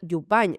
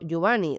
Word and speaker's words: Jubany: Elena Jubany, no Jubany, ¿de acuerdo? Porque en catalán la N y la Y fonéticamente sería la N.